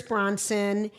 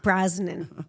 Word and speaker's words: Brosnan: It's with Helen Mirren and Pierce Bronson and Ben Kingsley. Brosnan. Is it Brosnan?